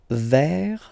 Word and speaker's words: verre: Le verre. So it's interesting because you get this E vowel here, but then you get double R after. So it will open the pronunciation of the E, and it will give